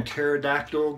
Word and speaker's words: pterodactyl: is it when a pterodactyl goes to the bathroom you never hear it because the P is silent anyways those are for